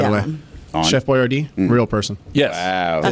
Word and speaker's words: Boyardee: Chef Boyardee, real person.